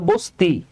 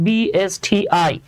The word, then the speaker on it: BSTI: যেমন দেখেন, আমি যখন বলি BSTI, Bangladesh standard testing institute, আপনি কিন্তু এটাকে বলেন না যে সুমন ভাই এটা হলো বস্তি, বাবারে এটা তো বস্তি না, এটা উচ্চারণ করতে হয় BSTI, মানে যা আছে সেটাকে লেটার বাই লেটার উচ্চারণ করলে বলা হয় অ্যাব্রিভিয়েশন।